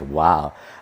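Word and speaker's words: wau: Literally is pronounced wow.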